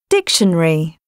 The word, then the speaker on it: dictionary: Pronounced with three syllables. Comfortable. Dictionary.